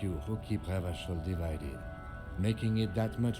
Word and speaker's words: Revachol: I'm glad I finally heard that pronounced out loud. Revachol.